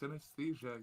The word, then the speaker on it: synesthesia: It's pronounced synesthesia, you cretin.